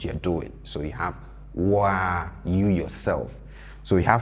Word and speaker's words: wo ara: say sewa unim, and pay attention to how he says the wa. Wow, sewa unim. We have Woo Ara, but then when we are saying it, you hear wa. It's the same as unku ara. Unku ara. You see it written as unku ara, but when we are saying it, we say unkwa.